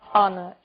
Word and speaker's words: honor: O som do H. Pronunciado desde a garganta, como em hotel, e mudo em 3 casos. Our, honest, honor.